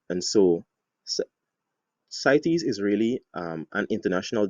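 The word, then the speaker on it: CITES: and especially the international trade of wildlife and cities which is spelt or is actually an acronym c i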